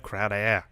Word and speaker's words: Crowder: It's pronounced Crowder. Devontae Parker or Jamison Crowder?